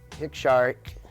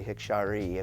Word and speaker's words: Hikshari: Hikshari is the way it's pronounced. It's not really Hikshari according to the Cultural Committee.